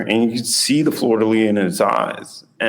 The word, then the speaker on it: fleur-de-lis: What was the thought process of putting the fleur-de-lis? Is that fleur-de-lis? Fleur-de-lis. Okay. Does not pronounce the last little bit.